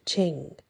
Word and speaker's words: Qing: Coinciding with the start of the Manchu rule over China in the 17th century, the Qing dynasty, pronounced Qing, Abka Hehe was replaced in the Manchu pantheon